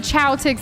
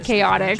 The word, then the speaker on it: Chaotix: Oh, I sometimes, guys, I even said Chowtix instead of Chaotix, so I do this all the time.